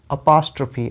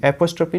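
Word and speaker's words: apostrophe: तो कैसे आप प्रोनाउंस करेंगे, अपास्ट्रफी, ये देख रहे हो, अपास्ट्रफी, अपास्ट्रफी, एपोस्ट्रफी नहीं, अपास्ट्रफी, इसका मतलब होता है संबोधन, ठीक है।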